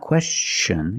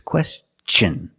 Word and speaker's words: question: like chicken and change with words like this question it's not question it's a question use the hard CH sound because the Tio n is after an S let's see some other